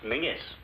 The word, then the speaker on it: Menzies: A small one, please, Menzies. What's the matter? If all these Atlantic packs are to go through, you Yanks will have to learn to speak the King's English. And Menzies is pronounced Mingus.